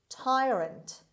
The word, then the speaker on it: tyrant: number 10 tyrant tyrant tyrant the stress is at the beginning means cruel or unjust